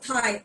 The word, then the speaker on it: Thai: Thai because इनका जो H है वो it is this T and H is pronounced as one. So it is Thailand. हम लोग जैसे TIE Thai बोलते हैं ना, TIE. So it is pronounced like this.